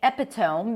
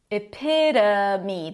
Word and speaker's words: epitome: I hear a lot of people say epitome because of the T-O-M-E spelling. Usually when you have O, a consonant and an E, the last vowel is going to be pronounced with a long O as in go, like hope or bone. But in this case, no. It's epitome. The O is actually a schwa.